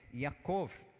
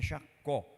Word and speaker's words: Jacó: você já quer marcar, é Jacov, não é Jacó.